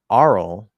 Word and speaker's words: aural: into the UL um aural starts with the vowel ah but it's the r color to ah so it's going to